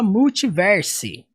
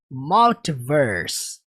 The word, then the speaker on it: multiverse: Prestem atenção, você não fala multiverse, tá? Você fala como? Multiverse. Multiverse. Fala comigo aí, multiverse.